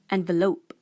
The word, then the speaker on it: envelope: The correct pronunciation is envelope.